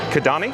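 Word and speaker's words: Kidani: Kadani.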